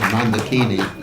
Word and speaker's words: Mandakini: Some people pronounce it mandini. You can pronounce it mandakini or mandakin. The actual pronunciation is mandakin but anyway so it's the uh celestial ganis.